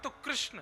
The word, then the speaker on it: कृष्ण: कृष्ण शब्द का उच्चारण अधिकतर लोग गलत तरीके से करते हैं। जब वे वृंदावन आते हैं, तो बहुत से लोग "कृष्ण" कहते हैं। कृष्ण। यह ईश्वर का नाम नहीं है। द्रौपदी का नाम कृष्ण है। भगवान का नाम कृष्ण नहीं है। भगवान का नाम कृष्ण है। देखिए, जब लोग " कृष्ण" कहते हैं, तो यह स्त्रीलिंग बन जाता है।